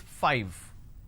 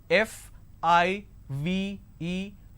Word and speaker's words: five: a while ago is five all right now the pronunciation is 5 f i v e five so I need to I need to bite my lower lip to end the word it's five the second one is